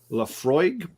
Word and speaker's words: Laphroaig: a scotch whiskey nice it's pronounced sorry Laphroaig the Freud okay uh that's um that's the Frog yeah exactly so I was